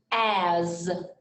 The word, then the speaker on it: as: like a z and this word here sounds like a z but it's not a z has has he is his and one more as as they all in